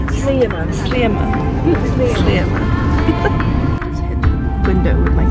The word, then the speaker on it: Sliema: How do you pronounce it, Georgia? Sliema. Not Sliema. Sliema.